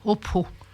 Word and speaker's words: Upaho: Upaho Pichon. Le A, il se prononce pas. Opho.